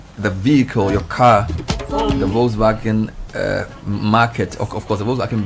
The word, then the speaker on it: Volkswagen: We're talking to friends from, they say it's Volkswagen, even though it's VW, it's pronounced with a V, but it's more Volkswagen.